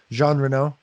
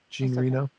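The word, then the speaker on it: Jean Reno: saying his name wrong jean renau okay gene reno we're american we can say it yeah it's definitely john it's the last name yeah john reno i'll say in my american way uh i didn't understand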